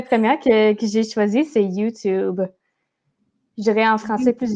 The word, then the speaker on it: YouTube: Toujours le OU sound. Ouh. Puis c'est intéressant parce que moi, je disais YouTube. Fait que mon Mhm. T était vraiment trop prononcé.